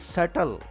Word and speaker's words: subtle: human him this is subtle b is silent here that's why we pronounce it as subtle it is not subtle